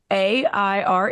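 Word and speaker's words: Aire: Kylie commented clarified it's air which to me means why put the e at the end to make this extra you know confusing for everyone whatever but a i r e is pronounced air and now it's like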